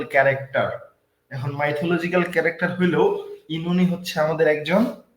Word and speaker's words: Oenone: করছেন বলতে পারার কথা ইননি ইননি এখন আমি ধরবো কোনটা একেকজন এ একটা বলতেছেন আমি বলবো কোনটা ইননি ধরবেন প্রবলেম হইতে পারে কিন্তু শুনে আমার কিন্তু হাসি পাইলোন এটার সঠিক উচ্চারণ হচ্ছে ইনুনি ইনুনি জি ভাইয়া সেটাই প্রোনাউন্সিয়েশনে